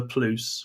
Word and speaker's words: Pluse: pronounce PLO now yeah we pronounce it the PLO we call ourselves the PLO p l u s e rhymed with loose I don't know when